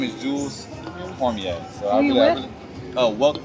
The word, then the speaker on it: Cormier: And you said it right, Cormier.